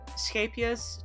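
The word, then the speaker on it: Scheepjes: It's a Scapious Chunky Monkey. I don't know how Americans pronounce it, but that's how I pronounce it. Because that's Dutch. And I'm Dutch.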